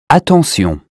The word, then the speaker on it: attention: Attention. The S sound is T in attention, meaning careful, and not SH as in shoe.